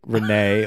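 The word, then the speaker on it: Renaigh: i g h like Renee like nay like a horse because Renee made an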